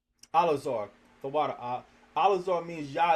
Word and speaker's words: Eleazar: Eleazar, I can't pronounce it right now. When those when those elders fell asleep, Alazar. Say it again. Alazar. Alazar.